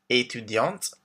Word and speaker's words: étudiante: So we have professeur, informaticien for men, informaticienne for women, chargé de clientèle, étudiant for men, étudiante for women, with the T pronounced at the end, artiste, artist, directeur for